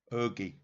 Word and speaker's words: Hergé: And that's spelled H-E-R-G-E. Hergé.